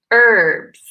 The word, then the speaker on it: herbs: word here in America in American English the hechas silence they say herbs without that H sounds ok goods Denise yes